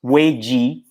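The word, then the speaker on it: 危机: is actually made of two characters and it's pronounced way G which actually symbolizes danger as well as opportunity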